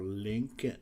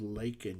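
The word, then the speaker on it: Laken: He called her Lincoln Riley. No, her name is Lakin, you dumbass.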